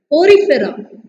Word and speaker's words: Porifera: Porifera, example is Spongilla cycon.